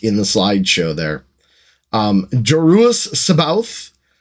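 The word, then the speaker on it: Joruus C'baoth: the slideshow there um jerus Sabbath that's how I choose to pronounce it I think that's the best pronoun uh pronunciation for it and Grand Admiral thrawn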